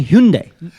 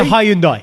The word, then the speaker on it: Hyundai: No, they will, Sach, because everyone's now saying Hyundai. It's a Hyundai.